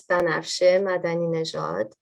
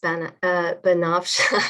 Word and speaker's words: Banafsheh Madaninejad: I'll pronounce it biculturally. In Persian, it's Banafsheh Madaninejad. And anglicized, it's Banafsheh.